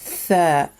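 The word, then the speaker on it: ثاء: Letter tha. Tha. This is the same sound you find in the word three because it has three dots on top of it.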